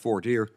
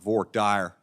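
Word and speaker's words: voir dire: parts of the country we call that four deer only in Texas they call it vork Dyer I don't really understand the difference in pronunciation but Texans they do things their own way each side gets their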